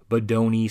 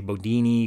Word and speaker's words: Bodoni: Here's Dido is one that's fairly familiar, Bernhardt Modern, Bodoni, sometimes I say Bodini because a lot of these fonts are hard to pronounce.